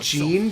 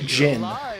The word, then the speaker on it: Jin: I'm like yeah so we keep pronouncing it Jean because his last name's but they keep pronouncing it Jin so there's kind of um an inconsistency among him like anime doesn't stuff about whether it's better to use like the native Japanese pronunciations for things or to use like a more natural English one because I can